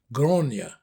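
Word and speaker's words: Gráinne: In the Irish language, the name Grace becomes Groia. However, it is spelled G R A I N E.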